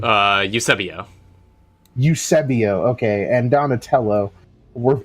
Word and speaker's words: Eusebio: Eusebio.